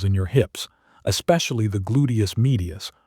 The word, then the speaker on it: gluteus medius: When you stand on one leg, deep stabilizing muscles in your hips, especially the gluteus medius, pronounced gluteus medius, must fire continuously to keep your pelvis level.